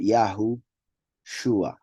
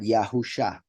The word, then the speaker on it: Yahushua: you can see that the pronunciation of the name of the Messiah would be yahushua not yahusha as some pronounce it and this is not